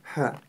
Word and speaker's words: ح: При ее произнесении участвует только горло. А также во время произнесения буквы «Ха» выходит сопроводительный звук. Попробуйте сами. Чем-то похожий на шипение змеи. Буква «Ха» произносится мягко. «Ха». «Ха». Не стоит ее произносить твердо. «Ха» или «Хо». Нет, она произносится мягко.